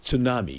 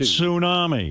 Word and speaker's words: tsunami: You you know, there's a T in front of that word. It's pronounced tsunami. It's a Japanese word.